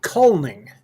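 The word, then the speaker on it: kulning: how do you pronounce it again it's called calling calling spell it for everybody because k-u-l-n-i-n-g there you go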